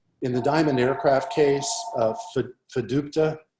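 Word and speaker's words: FDUTPA: In the Diamond Aircraft case, fiducia, that's the right way to say it, applied to any defendant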